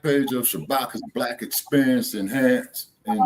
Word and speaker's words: Shabaka: the like page of Shabaka's Black Experience Enhanced. And how do I spell that? Follow Jesse. Okay. How do I spell that? Shabaka. Okay, no, it's not Chewbacca. It's Shabaka.